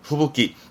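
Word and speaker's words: 吹雪: 발음은 후부기 후쿠의 후가구 육기가 묶이면서 후부기 요래서 시험 때 자주 보입니다. 챙겨두세요. 발음은 후부기, 눈보라는 후부기.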